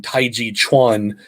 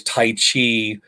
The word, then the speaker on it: Tai Chi Chuan: And then I continued to train also in Tai Chi Chuan, which is most people know as Tai Chi, um, incorrectly translated and pronounced because the Chuan denotes fist and application.